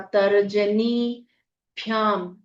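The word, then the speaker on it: तर्जनीभ्याम्: बड़ी ई की मात्रा तरजनी भ्याम आधा भ य में आ की मात्रा अनुस्वार का उच्चारण न की तरह होगा तर्जनीभ्याम नमः आगे त वर्ग है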